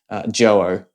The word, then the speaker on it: Joyo: And other than my last video that I did on this product, I believe it is pronounced JOYO, because I wasn't sure last time.